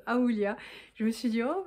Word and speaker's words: Aoolia: Mais du coup quand j'ai été contactée par cette marque, je pense que ça se prononce Aoulia, je me suis dit